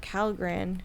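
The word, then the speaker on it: Kalgan: and he's supposedly taking over the planet of calan which is I probably said it wrong no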